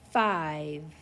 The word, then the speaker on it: five: Next word, I-V, five. I see the long vowel, silent E pattern.